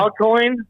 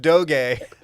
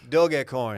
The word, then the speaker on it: Dogecoin: Dogcoin? Dogcoin, Doggy yeah, coin? that's the best one. Dogcoin. Yeah, Doggy Coin. I like Doggy Coin. If I was going to It's invest, pronounced Doge. Dogecoin.